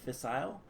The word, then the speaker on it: fissile: waste, which comes from, this is pronounced Fissile Fuel in America. How I pronounced it, Fissile, I believe, is British, so it's Fissile Fuel.